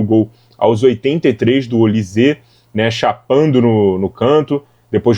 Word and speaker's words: Olise: Enfim, deve ser Olise, né? Porque é francês, então sempre tem essa sílaba tônica ali no final, mas vamos deixar para lá e vamos voltar aqui para a análise do jogo.